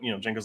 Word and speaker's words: Django: And Django's like, "Oh, it's Django." And he's like, "Well, how do you spell it?" And he's like, DJANGO. The D is silent.